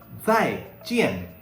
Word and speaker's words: 再见: Okay, it is saying that you have to pronounce it like the DS sound in the word yards or kids. Okay, so zai jian.